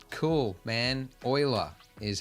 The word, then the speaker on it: Euler: But the node that we're looking for, Shift A, is underneath Utilities, and we're looking for Rotate Euler. Is that how you pronounce that word?